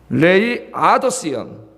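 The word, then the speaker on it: Laodicean: 그래서 영어 단어 중에 말이죠, 여기 제가 써왔는데요, 이거 그대로 읽으면은 음력하면 라오디게안 이렇게 읽어지는데 미국 사람들은 지네 멋대로 발음을 해요. 지네식으로. 레이아더시언. 레이아더시언. 여기 액센트가 있구나. 레이아더시언. 이렇게 읽어요. 그 사람들은.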